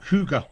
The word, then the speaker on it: Hygge: Wait, how do you pronounce it again? Um, Huga.